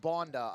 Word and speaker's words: Bonda: It pronounced Bonda, I was told.